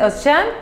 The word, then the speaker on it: Özcan: Se llama, en turco se dice Özcan, pero se escribe Özkan.